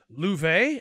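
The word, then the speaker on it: Loewe: I mean, you look at Louvet, as we learn his name is pronounced in this game, not Lo.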